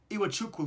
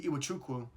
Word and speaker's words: Iwuchukwu: points, Malik Mack, who had 11, and Vince Iwuchukwu, who had 12. You're gonna ask me, how can I say Iwuchukwu, but not say some other names like in the NFL or any other basketball games?